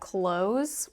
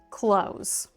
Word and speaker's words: clothes: In American English, even though you see a th in the word close, you can hear that I don't pronounce the th close.